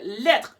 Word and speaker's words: lettres: So une lettre becomes des lettres in a plural. So as you may have noticed, the S, the final S there is not pronounced at all.